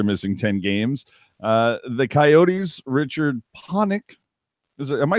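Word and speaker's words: Richard Pánik: would return after missing 10 games the Coyotes Richard ponic am I saying that right jerk is at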